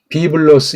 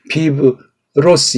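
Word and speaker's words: βίβλος: 비블로스 이렇게 해야 되지. 이게 비브로스 이거는 ABC가 안 된 사람이에요.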